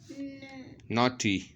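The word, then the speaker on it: naughty: यस you read the fish that नॉटी ये जी एच जो है इसमें साइलेंट है नॉटी का क्या मतलब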